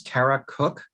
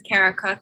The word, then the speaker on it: Cara Cook: so much okay our next speaker uh is carara cook hi yes thank you um my name is Cara cook that's spelled c a r a c o k